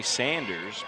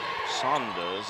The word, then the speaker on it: Saunders: a nice block again the tide son does and that's how he pronounces it we normally say Sanders but he asked some of the pronunciations and some does is how he says it three good